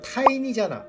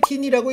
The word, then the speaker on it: 티니: TINY면 타이니잖아. 근데 왜 티니라고 읽느냐? 이게 작은이라는 뜻을 가진 타이니가 아니라 삼위일체를 말하는 그 트리니티의 약자로 티니라는 이름을 썼던 거지.